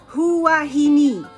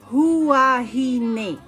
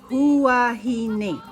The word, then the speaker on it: Huahine: today I'm gonna share with you how to pronounce 7 place names in French Polynesia. Whatever. Moh-oh-reh-yah. Nope. Moh-oh-reh-yah. Moh-oh-reh-yah. Hoo-wah-hee-neh. Nope. Huahine. Huahine.